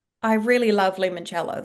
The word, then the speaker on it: Limoncello: How do you pronounce that? Limoncello. Limoncello.